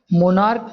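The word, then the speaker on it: monarch: ठीक है, तो यहाँ जो प्रोनाउंसिएशन है वो क्या है, का, इसलिए हमने इसमें क्या यूज़ किया।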